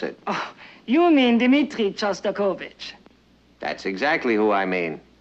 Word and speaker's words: Shostakovich: maybe we'd better be going we're hearing a sauce turbo kit you know that's Shostakovich and since you're a